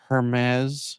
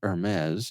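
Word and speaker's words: Hermès: And some of the brands include Apple, PayPal, Nordstrom, Hermes. Is that the right way to say it? Hermes? Hermes? No, you Hermes? drop the H.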